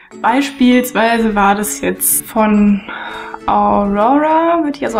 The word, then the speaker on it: Aurora: den Ohren raushängt beispielsweise war das jetzt von Aurora wird ja so ausgesprochen running with the wol habe ich ganz